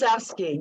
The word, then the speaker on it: Rydzewski: Just remember, a W is a V in Polish if they want to pronounce it the right there way. You go. Yeah. So it's Rydzewski.